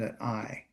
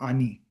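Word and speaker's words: אני: I is an A and an N and an I.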